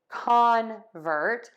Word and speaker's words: convert: they now the convert we're going to stress the con make a wide open mouth for that ah really say that vowel for convert we are going to unstressed syllable one and so we are going to use a relaxed short quick uh let's give those